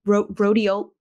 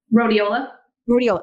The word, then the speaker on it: rhodiola: using ashwagandha stragalus um I always mispronounce this one it's the R1 Rodeo rhodiola okay I always want to like mess up that way rhodiola um and